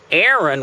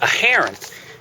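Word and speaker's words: Aharon: reason that significant is Aaron when we say in English Aaron we're actually saying the word for Ark Ark of the Covenant that's Aaron so the proper pronunciation is a heron oops sorry what's that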